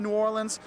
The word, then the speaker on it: New Orleans: We've got the don'ts of coming to New Orleans. You notice I keep saying New Orleans because that's how you say it. It's not New Orleans. It's not New Orleans, it's New Orleans.